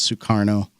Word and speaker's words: Sukarno: by the Federal Reserve some publications spells soekarno a certain way but anyway that's basically how it's how it's pronounced is sukarno the agreement would have